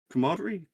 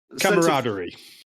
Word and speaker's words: camaraderie: I miss that kind of like what's commod c commodery. Commodery. Can't say it properly, but camaraderie. That's the one.